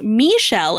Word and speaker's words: Michelle: times before that because my name is michelle and it's the french pronunciation my name fits in